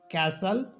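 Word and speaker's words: castle: और वर्ड है जैसे जिसमें टी साइलेंट होता है जैसे लिसन कैसल और विसल इसमें टी को हम नहीं बोल रहे हैं अब देख लेते हैं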